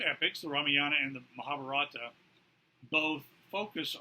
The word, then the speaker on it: Ramayana: The Ramayana, I hear it pronounced also Ramayana, so however you want to pronounce it, is an epic poem of about 20,000 verses.